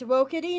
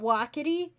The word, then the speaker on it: Wokity: Oh, it's Wokity, not Wakity.